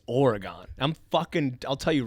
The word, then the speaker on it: Oregon: I thought it was Oregon. If you live east of the Mississippi, it's Oregon.